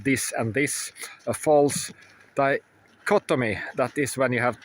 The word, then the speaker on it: dichotomy: correct me it's called it's called a false dichotomy. I said it right the first time yesterday but dicottomy and you can say